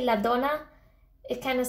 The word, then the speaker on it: la donna: It's like, it's kind of, you don't say la donna like that really. It's more la donna. It's like, you see the difference? If you say la donna, it kind of sounds